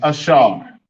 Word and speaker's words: Asher: The way you write Asher in English Hebrew is Ashar. Ashar. Did I miss the H? Ashar. Ashar. Yes, I did. Like it. Ashar. Ashar. Asher is Ashar.